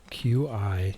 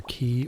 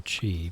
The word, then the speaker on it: Qi: Q I should be either key or chi, but never never Qi.